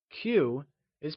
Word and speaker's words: 起: Before moving on, recall that in Mandarin, Q is pronounced with a ch sound. Qi is pronounced using the falling, rising tone.